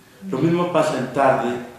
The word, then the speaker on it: tarde: Tarde tiene la vocal A y luego la E. La sílaba fuerte recae en la A.